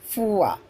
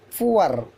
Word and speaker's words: four: Generally, American people will pronounce R sound. British people won't pronounce R sound. First we check British pronunciation. Fua, fua, ua, fua, fua, ua, fua. Next, sure, S-U-R-E, sure, sure, sure. But American, fuar, fuar, sure, sure, sure, sure, sure, sure.